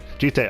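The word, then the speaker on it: jitte: Jite, okay. So I had to keep getting the pronunciation app on my phone so I can pronounce this word correctly because this word is confusing me.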